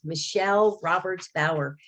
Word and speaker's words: Michele Roberts-Bauer: hunters this is lori with the story with michelle roberts bauer am i saying it correctly yes you are